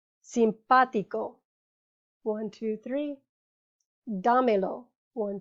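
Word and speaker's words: simpático: the emphasis is on the third to last syllable one two three boligrafo simpatico one two three damilo one two three remember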